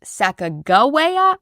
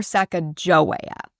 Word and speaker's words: Sacagawea: There's some debate over whether her name should be pronounced Sacagawea or Sacagawea.